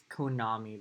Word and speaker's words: Konami: It's Konami, by the way. I don't like when people mispronounce it, but it's okay.